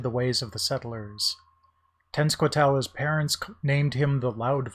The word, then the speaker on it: Tenskwatawa: Glad I learned how to pronounce his name in the last one. Tenskwatawa, was also called the Shawnee Prophet, was known for his visionary abilities.